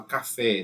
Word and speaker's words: café: São aquelas que termina, por exemplo, a palavra café, né? Café, qual a sílaba forte? É o fé.